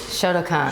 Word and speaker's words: Shotokan: Shotokan.